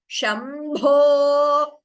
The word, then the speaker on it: शम्भो: Short A and O are not there in Sanskrit. Therefore, in Sanskritam, we have to chant this as Shambho. Always O, not Shambho.